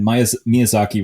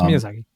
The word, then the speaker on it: Miyazaki: Mia Miyazaki was right. I'm sorry if I mispronounced your name, sir. It's Miyazaki. It's Someone get Miyazaki a Gundam stat.